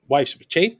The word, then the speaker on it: Choi: I was also under the assumption that Che, his wife's Che. I'm sorry, Che. Yeah, it's written Choi, but it's pronounced Che.